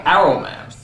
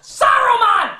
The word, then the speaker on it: Saruman: is for some reason they stopped pronouncing the S and simply call him Arrowman. Why? Is the S suddenly a bad word? Only because Arrowman is kind. It should have been his friend Arrowman. How long since Arrowman? Saruman, you idiot! It's pronounced Saruman! The S isn't silent!